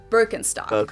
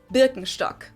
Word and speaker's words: Birkenstock: So English speakers usually say Birkenstock. In German, we say Birkenstock.